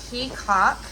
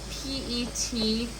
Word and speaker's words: petcock: This one has a gauge as well as a peacock. It's spelled P-E-T-C-O-C-K, like petcock, but it's actually pronounced peacock.